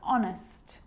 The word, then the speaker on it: honest: And sometimes it's not pronounced at the start of a word, like honest and hour.